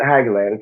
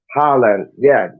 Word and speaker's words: Haaland: But do you think this Haaland, however you say his name, it's not Hageland because he used to play for Fulham. Haaland, yeah.